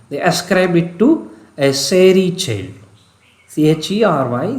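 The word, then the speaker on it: chery: ascribe it to a serie child c-h-e-r-y is pronounced not as scary but it is the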